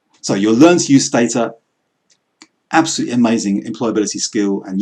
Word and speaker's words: Stata: Usually it's pronounced to run with data. This program called Stata, which is, it's the #1 global statistics quantitative methods package.